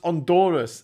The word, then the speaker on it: Honduras: Honduras is pronounced Honduras. H is silent.